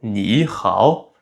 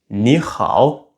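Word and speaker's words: 你好: deux au troisième ton, alors le premier ni va passer au deuxième ton. Et donc on ne dit pas ni hao mais on dit ni hao et c'est aussi comme ça qu'on se salue.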